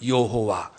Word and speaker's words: 여호와: 그분이 우리가 믿는 하나님, 그분의 이름은 여호와, 히브리어 발음으로는 야훼. 한번 더 합시다. 야훼 하나님. 여호와는 이제 헬라어가 영어로 제호바 해서 우리나라 번역으로 여호와.